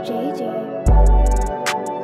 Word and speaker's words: Jgvfui: It's pronounced JJ.